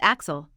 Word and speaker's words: AXL: At the start of the movie, we are introduced to AXL, pronounced Axel, via a promotional video.